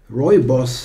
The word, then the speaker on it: Rooibos: Just some regular Rooibos, as I learned, it has to be pronounced.